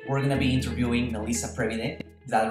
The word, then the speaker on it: Melise Previde: series so today we're going to be interviewing melissa previde is that the right pronunciation yes it's okay Melisa Previde is an